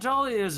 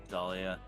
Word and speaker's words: Dahlia: My name has a silent H in it? Yeah, I'm not surprised she doesn't know that. Yeah, Dahlia. It's after the A and before the Leah.